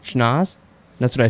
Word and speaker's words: Schnauz: It's not Schnauz. It's because then the next. You were right the first time. Schnauz.